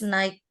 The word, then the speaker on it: night: Hernia bought a pretty necklace when she went to the mall last night. Ya, GH-nya itu nggak dibaca ya, Kak. Silence.